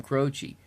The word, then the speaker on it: Croce: Crow to his rot his name rhymes with mine Mike Tochi Jim Croce and he grew up